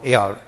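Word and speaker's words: heir: Added পড়বে অ্যান বসে, কারণ হলো এইচ এর উচ্চারণ হয় না সেক্ষেত্রে। যেন honest, হি ইজ an honest man, hour, we need an hour to গো দেয়ার, honourable এয়ার, এই 4-5টা শব্দের পড়বে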